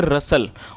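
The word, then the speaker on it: rustle: दूसरी बात ये कि जो ये जो वर्ड है RUSTL, इसमें जो T है वो साइलेंट है, तो टी जो है पढ़ा नहीं जाएगा, तो इसको हम क्या पढ़ेंगे, रसल।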